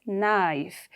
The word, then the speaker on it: knife: told you the gay is silent it is pronounced as knife in nice it is spelled k-n-e-e but while